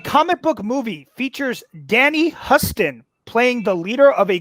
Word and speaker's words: Huston: What comic book movie features Danny Huston playing the leader of a group of vampires? It's Huston or Houston. I think it actually is pronounced like the great city in my state. It is Houston.